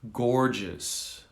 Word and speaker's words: gorgeous: to say gorgeous so the first g is hard the second g is soft gorgeous gorgeous all right going